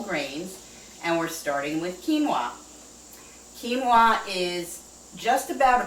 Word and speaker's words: quinoa: And it does not spell the way it pronounces. A lot of people are familiar with quinoa but don't know that's how you say it.